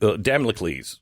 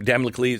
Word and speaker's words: Damocles: background like a like the Sword of damliki Damocles is that how you say his name Damocles you remember the guy who's holding the sword